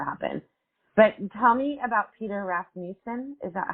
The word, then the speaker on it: Peter Rasmussen: But tell me about Peter Rasmussen.